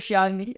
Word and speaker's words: chave: Se a gente escrever chave, a gente escreve CH. A gente escreveu chave. E este conjunto de letras de som tem o som de X.